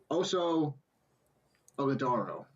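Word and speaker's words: Oso Ighodaro: Those players, in my eyes, were Oso Ogadoro. There we go. Oh, you pronounced it good.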